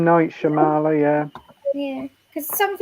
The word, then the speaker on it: Shyamalan: Night, how you pronounce his last name? M. Night Shyamalan, yeah.